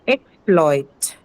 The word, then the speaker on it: exploit: Okay, next one, exploit.